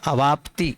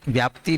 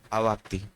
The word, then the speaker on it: अवाप्ति: परिणाम नार्थ क प इसमें आप सभी एक शब्द गलत उच्चारण कर रहे हैं परिहार अवाप्ति व्याप्ति नहीं है वहां अवाप्ति अवाप्ति व्याप्ति शब्द दूसरे अर्थ में आएगा परिहार अवाप्ति सामान्य सामान्य